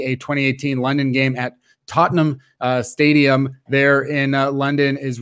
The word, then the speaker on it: Tottenham: Tottenham is the right way of pronouncing it.